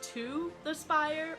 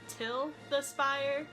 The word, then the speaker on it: Til the Spire: the spire means goodbye we did ask a cast member if it's pronounced to the spire or til the spire but he said it's just whichever way you want to pronounce it he says - but